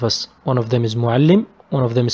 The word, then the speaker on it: معلم: معلم. As you can notice, I stress on لا or on لي. I pronounce it double. معلم. معلم. معلم. One لي with سكون and the other لي with كسرة. Next one is سبورة.